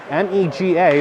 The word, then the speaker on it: Mega: That one was taken by David Mega, M-E-G-A, but it's pronounced Mega, not Mega.